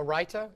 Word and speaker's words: raita: A raita. So it's spelled R-A-I-T-A.